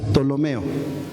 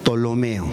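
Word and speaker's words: Ptolomeo: Tolomeo, pero no pues se pronuncia la P normalmente Tolomeo, vamos a decir.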